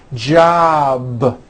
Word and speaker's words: job: is unvoiced for example JB ends in a b which is a voiced sound job it's not J with an unvoiced P keep the voicing going throughout the whole word job with a voiced B ending same thing with